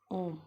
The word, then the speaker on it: ओम: का उच्चारण करते हैं, उस ओम के उच्चारण को आप इसी चिन्ह के कारण इतना लंबा खींचकर उसका उच्चारण करते हैं, जैसे आप लोग करते हैं। करके देखिए मेरे साथ, ओम। अगर हम सिर्फ ओ को बोलते तो बोले ओ, अगर हम औ बोले तो औ।